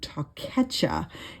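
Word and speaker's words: תּוֹכֵחָה: Punishment, on the other hand, is the Strong's number 8433, and it is the word takecha. It's spelled TAWKECHAH, and this means rebuke or correction.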